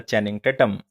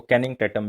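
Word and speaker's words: Channing Tatum: काफ़ी मूवीज़ के अंदर, दैट इज़ द चैनिंग टैटम, या इसको कैनिंग टैटम भी कहा जाता है, लेकिन हम इसको चैनिंग टैटम कहेंगे क्योंकि एक्चुअल में प्रोनाउंसिएशन यही है।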